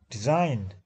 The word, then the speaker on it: design: Design, we are z is silent.